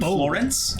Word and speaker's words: Florence: The bat was named Florence. Oh. but it's spelled like Lawrence with an F at the beginning. Like L-A-W or Yeah. L-A-U? L-A-W. Okay.